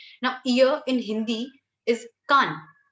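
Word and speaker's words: か: Now, ear in Hindi is kan. So, the first sound of kan, basically the first syllable, which is ka, is exactly the same as what we have for hiragana.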